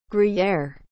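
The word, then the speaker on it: Gruyère: as a noun swiss cheese with small holes gruyere is spelled g r u y e r e gruyere you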